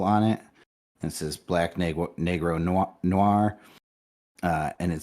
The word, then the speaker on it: negro: products to help children learn negro pronounced negro is the appropriate word for a spanish-speaking child would use for a for the color black we hope this is